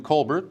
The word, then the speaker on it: Colbert: And you know, Greg, I thought only Stephen pronounced it Colbert, and I thought that was an affectation. I thought so too. So I was calling him Colbert, but apparently he likes Colbert.